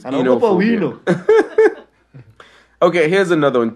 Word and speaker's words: oenophobia: Yeah, actually, it's spelled O-E-N-O-B-H-O-B-I-A. Well, that sounds like a goddess. Oenophobia. So it's enophobia.